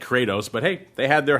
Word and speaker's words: Kratos: I I think uh Kratos just rhymes with crater that's what looks like